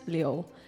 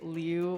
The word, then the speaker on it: Liu: And then my last name, uh, the Chinese pronunciation is Liu, um, and like but most people say Liu or Lou, um, I think kind of cute, like, you know, but